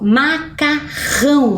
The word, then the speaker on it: macarrão: o som ão certo agora a gente vai ver qual é a sílaba mais forte que aparece em macarrão qual será é lá no finalzinho ó Ram mas professora para fazer